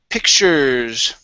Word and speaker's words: pictures: Next is pictures. Okay, give me a short I sound.